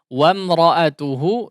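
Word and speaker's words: وَامْرَأَتُهُ: Kemudian wamra'atuhu ya diperhatikan pengucapannya ya jangan ditebalkan ya. Wom la wa difathahkan ya.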